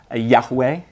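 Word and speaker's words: Yahweh: d'amour avec lui on est prêt il se prononce yaway il revêt le sens d'un Dieu existant depuis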